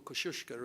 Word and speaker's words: Kosciuszko: thousand meters so it's like going to the top of kosciuszko or kosciuszko as my polish friends tell me it should be pronounced it's like going to the top of kosciuszko and staying there for